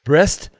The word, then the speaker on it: Brest: Brest to Landerneau.